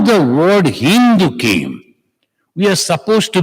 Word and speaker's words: Hindu: But these people, they could not pronounce Sa, so it became Ha. Sa became Ha. The Sindhu became Hindu. So the river Sindhu became